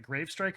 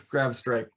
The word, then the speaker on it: Grav Strike: how to pronounce it is it gravestrike or is it grav strike because i see there's nothing that's grabbed his graph okay i had it right it's grav strike yeah you did um